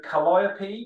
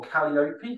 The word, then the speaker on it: Calliope: So Calliope, or Calliope, however you wish to pronounce it, means beautiful voice from the Greek muse.